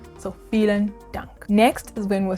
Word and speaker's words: vielen Dank: And then if you want to say thank you very much, then you'd add vielen Dank. Vielen Dank. The V is pronounced like an F. So vielen Dank.